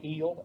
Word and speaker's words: HEAL: new they call it i pronounce it the heel h-e-a-l all in capital letters act that congress is